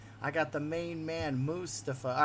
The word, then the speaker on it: Mustafa: your name is pronounced so it's pronounced mustafa mustafa yeah there's a there's not a strong emphasis on the you it's not moose like chocolate moose or the uh the wild animals of canada mustafa so you know you're